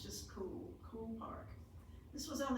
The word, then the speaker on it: Coole: It's c o o l e but pronounced just Coole, Coole Park.